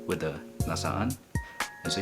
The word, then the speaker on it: nasaan: double syllable with the nasaan and so you have to pronounce both A's in there is like like where